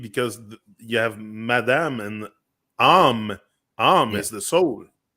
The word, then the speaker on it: âme: takes an accent on the A, but it's A-M-E, is âme en Yeah, français.